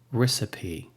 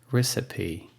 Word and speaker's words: recipe: so let's get started with the first word recipe recipe so the e the loss is pronounced of e a recipe the same thing